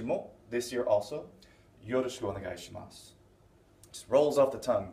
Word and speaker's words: onegaishimasu: Yet the way I've been pronouncing it, and the way most Japanese people will say this, is gozaimasu, onegaishimasu. They won't say the onegaishimasu or the gozaimasu. They won't put that u on the end very distinctly.